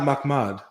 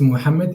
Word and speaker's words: Muhammad: of Muhammad you know Mama's name is not Makmad it it's Muhammad it's you can pronounce